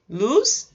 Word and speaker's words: loose: Loose and lose. I know that doesn't sound very different, but there is a small pronunciation difference there.